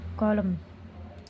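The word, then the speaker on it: column: और हमारा दूसरा शब्द है कॉलम। यहाँ पर भी है जो है यन से पहले यम आया है, इसलिए जो है यन को हमने साइलेंट रखा है। तो कॉलम मीन्स होता है कतार।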